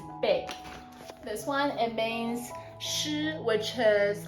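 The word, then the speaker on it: 失: So just FYI, this one pronounced da in Chinese, it means big. This one, it means shi, which is like lose, lost, things like that.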